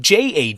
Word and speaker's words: Jade: He's not saying Yade. He's saying Jade. He's just saying it with his accent.